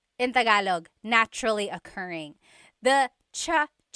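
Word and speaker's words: tsaa: that you drink and it's spelled TSA a cha cha that's such a talug spelling I love it there's the TS sound and then the double vowel uh pronunciation cha it's so talog yes very good what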